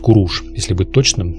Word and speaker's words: Куруш: Кир, или, точнее, Куруш, как и Дариус — или, вернее, его имя правильнее произносить как Дариуш — предложил бы в ответ ту же самую формулу.